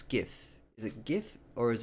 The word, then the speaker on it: GIF: Who would pronounce GIF with a J sound? It's a G sound, like a gorilla.